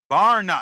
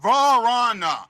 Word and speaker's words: Vrana: Varna. It's not Varana. It's Varna. Varna. It's one syllable. You guys are saying it almost like it's 2 syllables.